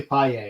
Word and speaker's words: Paglia: worked but it's really paella i had to ask it's really paella but it's it's prince it's spelt paglier right so yeah that's what